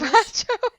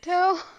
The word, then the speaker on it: Despacito: Dispatcho. That's not the song. Is it? That's not how you say it. That's not the song, is it? Despacito.